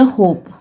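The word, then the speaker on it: hope: एच को पढ़ेंगे ह, ओ को पढ़ेंगे ओ, तो हो गया हो, फिर पी को पढ़ेंगे प, और लास्ट में ई होने से साइलेंट होता है, तो उसे हम कुछ नहीं लिखेंगे, कुछ नहीं पढ़ेंगे। तो ये हो गया होप, मतलब आशा।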